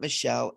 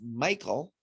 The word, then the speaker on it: Michele: She was a great teacher, but she said phonetically, my name is not Michele, it's Michael.